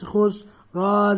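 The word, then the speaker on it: خسر: খুস খ সিন পেশ খুস র জের রি খুসরি খুসরি অকফ করলে কি হবে খুসর খুসর পাতলা হবে ইন্নাল ইনসানালাফি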